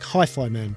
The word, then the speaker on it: HIFIMAN: And it took me a while to get that it's the same one that people were talking about, because it looks like Hifiman, but apparently it's pronounced Hifiman.